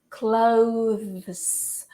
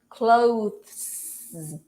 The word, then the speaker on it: clothes: difficult to say, and it also has the S, which is actually pronounced as Z. So you have to pronounce the TH, and right after you have to do the Z sound. So clothes, clothes, clothes.